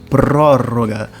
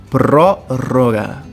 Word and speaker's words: prórroga: prorrogação eu chamo de prórroga muita atenção aqui na pronúncia do pro e também no duplo R então prórroga prórroga outro termo muito importante